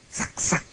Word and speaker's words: 삭삭: 삭삭이라고, 이게 원래 그 소소인데 삭삭이라고 읽습니다. 한자로는 이렇게 썼습니다. 이게 하소연할 소자입니다. 그런데 이 주역에서 조심하는 태도를 얘기할 때는 삭삭이라고도 읽고 어떤 옛날 본에는 색색이라고 읽었습니다. 삭삭.